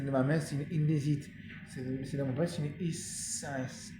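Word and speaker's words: Hisense: C'est de mon père, c'est une essence. Essence, ça va être comme ça. Ça s'écrit H-I-S-E-N-S-E. Essence. Voilà. Ça s'écrit comme ça.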